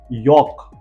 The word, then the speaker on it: yolk: अब ध्यान से देखिए, दोनों स्पेलिंग में ओ के पीछे एल दिया गया है, ल का प्रोनाउंसिएशन हमने नहीं किया। यॉक and Fock.